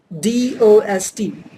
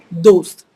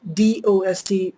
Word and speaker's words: दोस्त: you might be pronouncing D-O-S-T, just like in other English word, dost, just like toast. So it's not D sound. See, dost, dost. It's not, right? Don't pronounce D sound. It's another D sound.